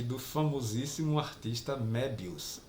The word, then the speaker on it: Möbius: e do famosíssimo artista Möbius. Sim, se lê Möbius. Apesar de todo mundo falar Moebius, a pronúncia correta é Möbius, que é um artista francês, bem de renome.